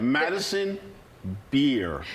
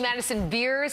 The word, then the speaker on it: Madison Beer: There's no S, right? Madison Beer. No S. He loves to say Madison Beers.